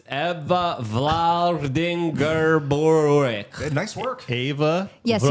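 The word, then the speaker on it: Vlaardingerbroek: pronounce At full Eva names. Vlar. It's Eva Vladingerborek. Nice work. Eva Yes, you got it. Vlaardingbroek.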